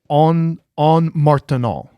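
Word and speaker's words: ondes Martenot: It's a French pronunciation. I think it's called the en martenant is how you.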